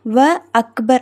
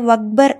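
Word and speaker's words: وأكبر: இதுக்கு முன்னாடி நீங்க வாவ் சேர்த்து போட்டு படிச்சீங்கன்னா கூட அத நீங்க எப்படிதான் எழுதுவீங்க எப்படிதான் வாசிப்பீங்க வ அக்பர் அப்படிதான் வாசிப்பீங்க. அந்த அலிபை விட்டுட்டு வக்பர் அப்படின்னு வாசிக்க மாட்டோம். வ அக்பரு அப்படின்னுதான் நம்ம வாசிப்போம்.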